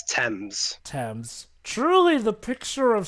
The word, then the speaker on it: Thames: It's Thames. Thames. Truly the picture of sanity. The H is silent, Jova.